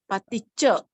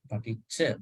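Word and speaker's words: paṭicca: Pali has a very specific, distinct, unique pronunciation. It has been paticha. Paticha. If you see this letter, see, anywhere it has to be long, long all the time.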